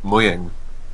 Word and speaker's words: Mojang: of the company is moyang with the J being more like a what I call an English Y sound for lack of a